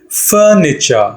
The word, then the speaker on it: furniture: these are called furniture furniture not the way i pronounce it furniture stress on fur yeah furniture now let's